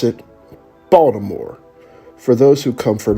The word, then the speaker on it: Baltimore: the culture of maryland you've got baltimore i pronounce it baltimore for those who come from outside of maryland